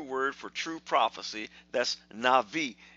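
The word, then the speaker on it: נביא: for true prophecy that's Navi it's pronounced Navi and avi but it's actually written Nabi it's written in ABI but in the Hebrew the B is pronounced as a V so that word Navi is very important then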